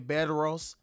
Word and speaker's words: Bedros: his name is beros I think that's how you say his name bed Ros I don't know why